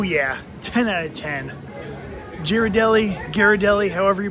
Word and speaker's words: Ghirardelli: All right, so I went back in and asked how you pronounce Ghirardelli, and they said that you actually pronounce it Ghirardelli, and then they pointed me to this sign.